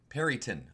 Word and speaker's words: Peryton: Peryton, according to D&D5e's pronunciation guide.